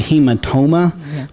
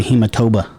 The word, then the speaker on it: hematoma: Yeah, it's called a hematoma, but I always call it the hematoba.